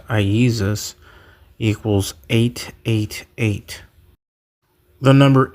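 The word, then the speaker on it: Ἰησοῦς: And of course, the most important one, Jesus in Greek, which is pronounced Iesus, equals 888.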